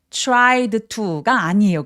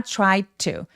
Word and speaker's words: tried to: tried to가 아니에요. 그래서 tried to가 아니라 try to try to라고 디귿 받침으로만 d를 처리하고 바로 to로 연결해 주시면 되겠습니다.